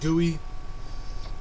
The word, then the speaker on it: GUI: to work with some basic guis or rather pronounced gooey and make a simple